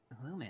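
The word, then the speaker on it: Lumin: full name Lumen Lumen it's my last name Lumen how do you spell that l u m i and Lumen pretty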